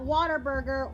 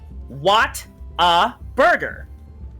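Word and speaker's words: Whataburger: and no boy splatty not Water Burger Water Burger it's um uh it spelled like um what a burger Hey listen there you go that's it it's just what a burger what a burger yeah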